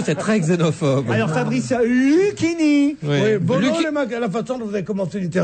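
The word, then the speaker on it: Luchini: est Fabrice et vous vous l'appelez Lini c'est Luini qu'on doit dire car prononcé à la italienne à l'italienne nom italien à l'allemande des noms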